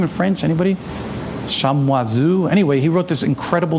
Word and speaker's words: Chamoiseau: How do you pronounce that name in French? Anybody? Chamoiseau.